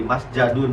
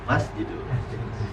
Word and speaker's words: masjidun: Ini jangan jadi masjadun atau misjadun, tapi masjidun.